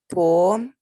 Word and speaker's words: poem: No, dear, it's not poem. That's what I was Poem. going to say. It's not poem because please understand this word has got 2 syllables. The 2 syllables should be pronounced.